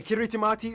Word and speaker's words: Kiritimati: things by the way kiritimati is the native way of pronouncing Christmas so yes this place